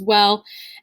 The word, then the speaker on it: oui: this in french pronunciations like the word we in french is spelled oui so it's got that